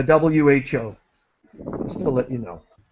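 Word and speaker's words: WHO: I say the so if I'm referring to the World Health Organization I say the the wh just to let you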